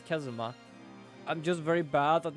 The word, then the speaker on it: Kazuma: this name is like is it like Kazuma I think it's kazma I'm just very bad